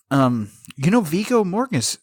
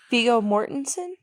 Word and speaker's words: Viggo Mortensen: Viggo Mortis. How do you say that motherfucker's name? Viggo Mortensen?